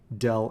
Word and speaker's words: del: y that upside down triangle with f it's pronounced del f the upside down triangle vector itself is